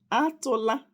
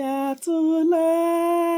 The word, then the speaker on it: atụla: words all right so Igbo words for today atụla egwu that means don't be afraid.